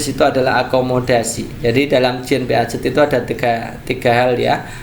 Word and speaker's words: Jean Piaget: Next berikutnya, tindakan guru yang tepat dalam mengembangkan kemampuan akomodasi menurut Jean Piaget, ya, Jean Piaget ini ya. Saya dikomplain karena ini bacanya bukan Jean Piaget kak, tapi Jean Piaget ya, Jean Piaget ya.